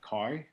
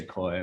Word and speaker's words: Khoi: then i so it's like kai okay smoking vietnamese i mean yeah exactly and that's yeah it's quite but i mean in english a lot of people just say koi which is fun too and they probably think it has something to do with koi fish right right yeah yeah